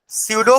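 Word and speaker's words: pseudo: है तो ने डालेंगे सूडो first order reaction सूडो सूडो silent रहेगा सूडो फर्स्ट ऑर्डर रिएक्शन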